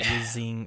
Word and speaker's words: Yizing: By the way, Yizing rhymes with wheezing.